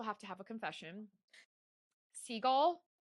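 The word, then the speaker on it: Sgaeyl: Seagull Zaden's dragon. I learned how to say it today. I have been calling her Smeaggle.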